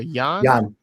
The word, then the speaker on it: Jann: I think it's pronounced John or Jann.